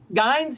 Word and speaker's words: Guynes: Tell us about the house on, is it Guynes Street? Is that how it's pronounced? Guynes Street, yeah.